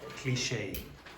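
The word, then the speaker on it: cliché: continue I yes oh cliche cliche it's a French word you pronounce it like French cliche cliche oh the accent an accent an accent yeah you pronounce it with the accent okay so you pronounce like a French ch think this simar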